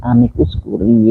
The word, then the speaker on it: amicus curiae: Curiae ya itu biar mestinya kalau itu bahasa Latin mestinya bacanya amicus curiae.